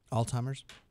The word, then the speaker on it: Alzheimer's: time Al's huh how do you say it Alzheimer's okay hey doctor told her quote Robin was